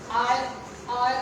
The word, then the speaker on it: iron: But when a native speaker speak this word, when he pronounce this word, he say I, un, not iron, not iron, So this is combination of this I and un. Iron is incorrect pronunciation.